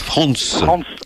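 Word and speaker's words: Franz: Alors c'est 4 places France List.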